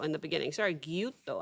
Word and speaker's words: Gyutto: I think I said Guyoto in the beginning. Sorry. Guuto, I think is how you actually pronounce it.